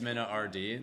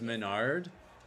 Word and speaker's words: MenaRD: That's why it's Mina RD. That's also why it's pronounced that way too. And that's why people don't say he's Menard. That's why he's Mina RD.